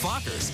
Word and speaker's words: Fockers: see meet the um how do you pronounce it oh just like it's spelled f-o-c-k-e-r Meet the Fockers in theaters December 22nd